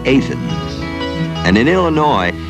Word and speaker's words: Athens: It's not Athens, it's Athens.